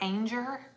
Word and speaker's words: Anger: added rhymes with danger so it's anger rhymes with danger um planted them again